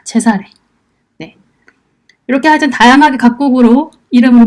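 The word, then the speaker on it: Cesare: 짜르도 그 시저입니다 마지막으로 이탈리아에서는 카이사를 어떻게 발음하냐면 체사례라고 합니다 제사래 이렇게 하여튼 다양하게 각국으로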